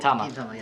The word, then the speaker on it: Gintama: Or Gin, how do you pronounce it? Gintama. Yeah, Gintama.